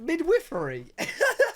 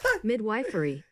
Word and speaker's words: midwifery: Midwifery. Midwifery.